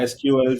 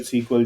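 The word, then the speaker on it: SQL: एसक्यूएल, सीक्वल जिससे भी आप प्रोनाउंस करो, या।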